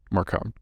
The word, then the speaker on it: Marcone: I can't believe I said it like just said it like the audiobook narrator in the first book when he was mispronouncing it. Marcone.